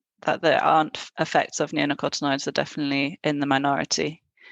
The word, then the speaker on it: neonicotinoids: Neonicotinoids.